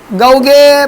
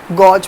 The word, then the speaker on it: gauge: समझ में आया, गौगे प्रेशर समझ में आया, अरे समझा, ये गॉज प्रेशर, यही है ना स्पेलिंग, गॉज प्रेशर।